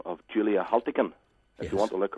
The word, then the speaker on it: Haltigan: Haltigan, as it's pronounced.